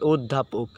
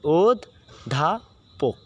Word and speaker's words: অধ্যাপক: সাথে জ ফলা আছে, স্বরে ওয়া এর পরে যদি জ ফলা থাকে, এই যে দেখো জ ফলা থাকে, তাহলে অ এর উচ্চারণ কি হবে? ও এর মতো হবে, ও এর উচ্চারণ হবে ও এর মতো।